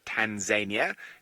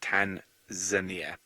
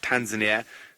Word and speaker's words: Tanzania: There's no such place in the world as Tanzania. It does not exist. It has never existed. It shall never exist. The correct pronunciation is Tanzania.